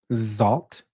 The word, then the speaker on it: XALT: pronounce this thing because I just keep thinking salt and pepper but I'm assuming it's not salt so it's it's like it's like salt with a z salt salt oh shoot I